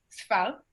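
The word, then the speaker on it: סְפָר: La primera palabra se pronuncia sfal, que significa tierras desiertas o tierras áridas.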